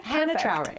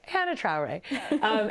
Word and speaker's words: Hannah Traore: The reason I said that is because I wanted to pronounce Hannah's name correctly. So then I said, Trana Traore. Yeah, Hannah Traore. Perfect. Okay. Yes. Okay. Hannah Traore.